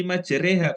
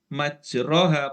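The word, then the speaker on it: مجراها: ya iya oke itu kenapa dibacanya Bismillahi majreha Kok tidak majroha padahal tulisannya majroha imalah oke sekarang nulis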